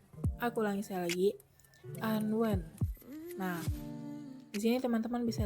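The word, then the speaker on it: 安汶: Jadi cara bacanya yaitu Anwen. Sekali lagi, Anwen. Aku ulangi sekali lagi, Anwen.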